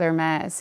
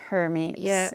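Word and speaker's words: Hermès: Um, same with Hermes, you know, not her meats.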